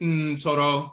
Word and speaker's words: Ntoro: Ntoro, misnomer Netter, but Ntoro, as it's pronounced in the Akan language today, Ntoro means deity.